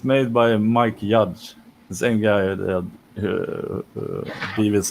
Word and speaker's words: Judge: Is it pronounced is it Mike Judge? Judge. Yeah. Judge. Yeah.